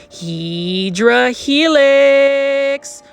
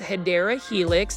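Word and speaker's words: Hedera helix: Now this one right here is a Hedra Helix or the correct way to say it is Hideera Helix.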